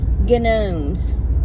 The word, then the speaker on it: gnome: G-N-O-M-E-S is pronounced gnome. Because why is the G there if you're not going to use it? Okay? I know it's gnome in your world, but in my world, it's gnome, just like it's gnat.